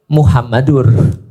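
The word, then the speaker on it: مُحَمَّدٌ: Kenapa Muhammadar? Karena ada anna, ashadu anna muhammadar rasulullah. Kalau tidak ada anna berarti bacanya Muhammadur.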